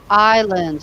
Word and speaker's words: island: Philippe island also pronunciation Island Vanessa silent yes the S is silent what desert okay and